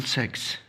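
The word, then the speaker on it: six: दोस्तों सिक्स और सेक्स में फ़र्क है। ठीक है, ये सिक्स है और वो दूसरा जो है वो सेक्स है। ठीक है, तो प्रोनाउंसिएशन में भी आप लोगों ने एहतियात करना है।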